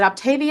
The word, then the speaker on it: Optavia: So tell us a little bit about, is it Optavia? Am I pronouncing it correctly? Optavia. Mamma Mia. Optavia.